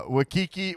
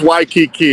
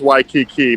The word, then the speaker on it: Waikiki: jason shapiro the cow champion well reporting live i imagine from uh wakiki where are you at where it's waikiki it's pronounced waikiki man you better start getting that right because